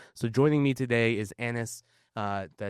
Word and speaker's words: Anas: So joining me today is Anis.